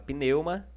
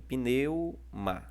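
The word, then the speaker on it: πνεῦμα: No pneuma também. Ó. Pneuma também está na penúltima sílaba.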